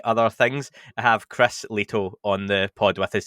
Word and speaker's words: Lehto: be here is it lito or leto i don't really know how to say it perfectly i think it's leto is the the finnish pronunciation but i guess later